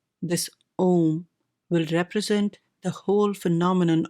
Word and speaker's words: Om: and this is the om and the om only because these three letters a u m pronounced in combination as o may well be the